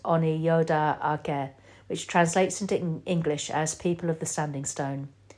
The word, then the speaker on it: Onyota Aka: Oneida is the anglicised name of Onyota Aka, pronounced Oniyoda Ake, which translates into English as People of the Standing Stone.